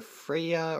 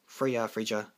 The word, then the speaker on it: Freyja: Next, I run 2, I'm going to butcher her name, Regalia of Fertility, either Freyja or Freyja. I'm pretty sure that J is silent, but Freyja, yeah.